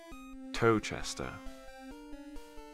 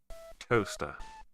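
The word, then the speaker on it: Towcester: you that was pronounced toe chester no it isn't i'm pulling your leg it's pronounced toaster yes toaster as in exactly the same as the appliance the kitchen appliance used to make toast it's pronounced toaster and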